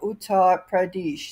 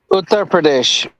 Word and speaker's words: Uttar Pradesh: Muslim politician Aam Khan in Rampur district of Utar Pradesh state. Uttar Pradesh.